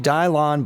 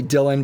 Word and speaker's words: Dylan: this one is Versace Dion Blue or Dylan blue I've heard it pronounce a couple different ways we'll just say Dylan because it looks like Dylan and this one is